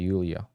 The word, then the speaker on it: Julia: Julia is in English, but Russians would pronounce it Yulia.